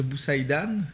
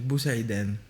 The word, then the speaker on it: Bousaidan: En français exact, ce serait Boussaïdan, mais en arabe, ce serait Boussaïden.